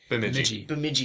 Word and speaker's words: Bemidji: Bemidji State. D is silent.